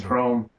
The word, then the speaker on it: hrom: that's our bad name the slovak word for thunder is chrome when i first heard